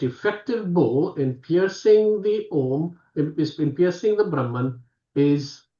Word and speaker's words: Om: Just open your mouth. What sound comes? Ah. As you close your mouth, it goes to oo. And when you close, it becomes mm.